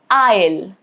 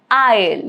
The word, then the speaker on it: isle: The rule is simple. It is silent before letter L. Example, island, isle, isle, yet again.